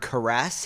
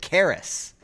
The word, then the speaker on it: caress: And um during those episodes, Rafie uh kept on calling the kept on saying the word caress. He would pronounce it caris caris of steel.